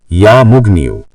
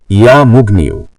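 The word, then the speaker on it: يا مغني: ইয়া মুগনিউ। উচ্চারণ ইয়া মুগনিউ।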